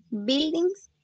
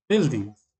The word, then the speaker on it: buildings: así como léela Ajá léela como está ahí buildings eso Ajá Ahí está ya así se pronuncia buildings Okay profe Gracias listo eso Entonces eso lo